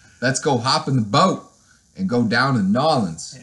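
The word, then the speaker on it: bateau: that was rejected is boat and it has a French spelling and is well ve a you XT but pronounce boat and the first definition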